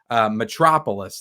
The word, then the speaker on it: Metropolis: Metropolis, that's how you pronounce it.